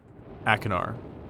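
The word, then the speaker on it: Achenar: Akinar. Yeah, that's how we pronounce it.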